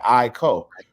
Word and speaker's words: Aiko: She said, Aiko, like Aiko, like two.